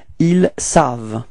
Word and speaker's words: ils savent: Ils savent. Repeat. Ils savent. Okay, so keep in mind that E-N-T, okay, the ending is not pronounced, so it's only savent, v-v-v-v, it ends with the sound v, okay, ils savent.